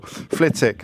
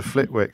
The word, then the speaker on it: Flitwick: no not gen teal flitic as opposed to Flitwick so I just you could have told me sooner mate I just said it about 18 times I'm not a roll mate I didn't want to I didn't want to let it go interrupt flitic flitic flitic sounds nicer than Flitwick Flitwick sounds a bit busy doesn't it a bit